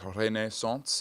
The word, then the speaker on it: renaissance: And the reason I'm pronouncing it renaissance is because re the renaissance is indeed a French term.